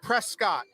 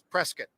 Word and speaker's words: Prescott: mean you look at it it looks like prescott boy don't say that when you're around here local pronunciation and the correct pronunciation is prescott so we're gonna be a lot of these